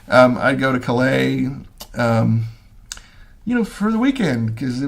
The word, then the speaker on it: Calais: The British put the emphasis on the wrong syllable. I'd go to Calais, for the weekend because it was fun.